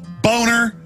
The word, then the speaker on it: Boehner: Yeah, well, no, the name is German. It's a nice name. It's pronounced Boner, and his whole life he even had an ad campaign saying it's Boehner, not Boner.